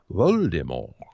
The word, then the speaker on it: Voldemort: But according to legend, the author's original intention was for this character to be named Voldemort. So more of the silent T, the French pronunciation, according to the legend.